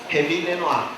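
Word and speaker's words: Rémi Lenoir: Não pronuncio o R igual carioca, mas enfim, Remy Lenoir.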